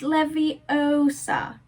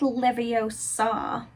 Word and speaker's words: Leviosa: someone's eye out besides you're saying it wrong it's leviosa not leviosa you do it then